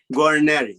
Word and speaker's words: Guarneri: Well, speaking of conviction, in the foreword of your book, you have a doctor, I don't want to say the name wrong, Guarneri? Guarneri, yes.